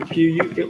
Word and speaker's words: qui: The word who is qui. Yeah, it's like saying qui, you know, K-I, qui, like kick, qui.